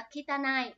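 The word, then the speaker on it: 汚い: câu này chính xác từ này nó sẽ đọc là kitana ok nhá chữ này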